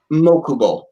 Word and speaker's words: Mokubo: Mokubo. Think like Mokuba from Yu-Gi-Oh, but change the A to an O.